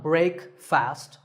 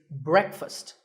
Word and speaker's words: breakfast: would you say it the proper pronunciation is not break fast it's breakfast brick with a short a sound and fussed with an up sound so breakfast you know what I